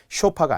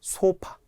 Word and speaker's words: 소파: 자, 소파를 종종 우리가 어디 홈쇼핑에서 보면 자꾸 쇼파라고 해요. 안 돼요. 진행자들도 다 잘못된 발음을 하더라고요. 쇼파가 아닙니다. 소파.